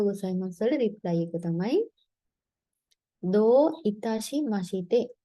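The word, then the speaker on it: どういたしまして: අරිගතෝ ගොසයිමස් වල reply එක තමයි දෝ ඉතාෂි මෂිතේ. දෝ ඉතාෂි මෂිතේ. දැන් මෙතනත් long vowel එකක් තියෙන්නේ දෝ කියලා. right?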